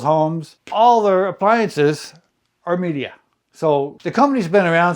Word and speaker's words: Midea: a Chinese company media I'll pronounce it that way I've heard other people pronounce it different ways and I heard Chinese people pronounce it media so I'll just go with media a lot of people